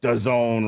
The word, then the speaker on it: DAZN: What's DAZN rhyme with, Jesse? Alzone, baby.